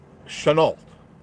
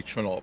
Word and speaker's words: Chanel: backyard holy mackerel David Chanel right pronounced with an sh I don't think it would be Channel but how are you